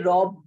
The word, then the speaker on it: robbed: So we say robbed, D, D, not T, but D.